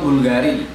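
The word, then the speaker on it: BVLGARI: Contoh Bulgari, parfum ya, Bulgari. Bulgari itu kan U-nya V ya. BV L Gari ya, Bulgari.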